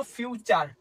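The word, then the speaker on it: future: হটি উচ্চারণ এর মত হবে। এক্সামপল দেখ একটা এক্সামপল লিখছি আমরা সেখানে এক্সামপল লিখা হল ফিউচার ইউটি ইউ আর আমরা কি বলি?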